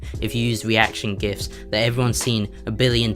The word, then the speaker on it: GIF: a Twitter or Instagram but you can't post gifts on Instagram as far as I'm aware so